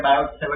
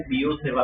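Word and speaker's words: Biot–Savart: इसको देखो कैसे कैसे वैसे देखने में क्या लग रहा है बायो सेव ऐसा लग रहा है ठीक है ना ये सब यूरोपियन नेम्स है प्रोनाउंसिएशन उनका अलग होता है इसको कैसे प्रोनाउंस करते हैं बीओ सेवा ठीक है क्या कहते हैं बीओ सेवा ओके बीओ सेवा लॉ ठीक है ना प्रोनंसिएशन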